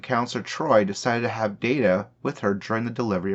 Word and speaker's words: Data: She saw him in no more than a machine, pronouncing his name as Data rather than Data, and did not understand that, as Data pointed out, one is my name, the other is not.